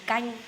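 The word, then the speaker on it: canh: different countries we call soup in Vietnam it gang c a n h that's how you spell that soup it gang this one I order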